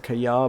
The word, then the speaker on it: Qajar: I was going to try and pronounce it Kayar, but I don't think it would be pronounced with like a y sound. This is not an area of the world which uses y sounds for a j. I think it's a Qajar.